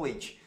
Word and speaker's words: wait: já ouvi aluno falando wait. Não, é wait, wait. Esse tzinho é t. Wait, wait, tá vendo? É bem leve. Se você observar nesse filme, nesse trecho do filme, ele nem pronuncia o t.